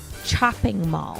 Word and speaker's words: Chopping Mall: Chopping Mall. And we're not mispronouncing that because of all the alcohol. No, chopping. It's literally chopping.